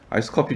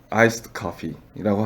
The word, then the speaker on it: iced coffee: 여러분 아이스 커피를 또 이제 해외에서 주문하실 때 아이스에다가 드를 살짝 넣어주시면은 이제 더 정확한 발음이 됩니다. 아이스 커피가 영어잖아 라고 해서 아이스 커피 주세요 라고 하면은 좀 못 알아들을 수 있으니까요. 거기다가 드를 살짝 넣어가지고요. 아이스드 커피라고 하는 게 더 정확한 발음이 될 것 같아요.